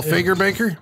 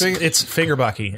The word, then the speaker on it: Fagerbakke: I thought he's from Bill Fagerbaker? Fagerhaven? It's Fagerbakke, actually. I just learned that the other day. That's how you pronounce it.